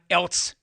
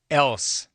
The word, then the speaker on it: else: It's not else. It's else. You're an adult. Learn how to enunciate your way out of second grade. It's one syllable, 4 letters, and not a single one of them is a T.